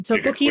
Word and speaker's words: tteokbokki: Tteokbokki?